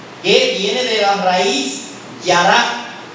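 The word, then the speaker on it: ירה: Yará, viene de la raíz yará, Y-A-R-A, con acento en la A.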